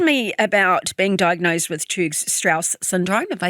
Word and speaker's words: Churg-Strauss: Okay, talk to me about being diagnosed with Churg-Strauss syndrome.